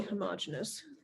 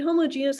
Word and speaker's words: homogeneous: So if you can see the individual sand grains, it's not fully homogeneous. Is that how it's pronounced? Well, you can pronounce it either way. I mean, homogeneous, homogeneous.